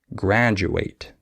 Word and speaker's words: graduate: sometimes like situation and du can be with a J sound like graduate okay uh or sometimes